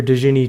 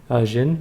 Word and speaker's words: Djinn: So we've learned about Mistress's room, a genie, which the way they spelled it, T-J-I-N-N, Djinn, I guess like that, is the original Arabic pronunciation and spelling of genie.